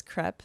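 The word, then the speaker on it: crêpe: I'm sorry that I told you that you pronounced crepe wrong because apparently the true French pronunciation of the word is crepe, the way you said.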